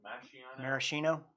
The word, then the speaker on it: maraschino: bite honestly after having the marciano uh is that how it's said maraschino maraschino maraschino after having that syrup